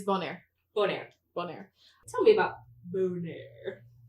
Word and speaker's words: Bonaire: I thought you were going to tell me how to pronounce it. Bonaire, Bonaire. It's Bonaire. Bonaire.